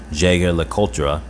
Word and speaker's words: Jaeger-LeCoultre: Jaeger-LeCoultre. Some people pronounce it differently.